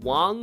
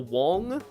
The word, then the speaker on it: Wang: But I think it's pronounced like Wang or Wong.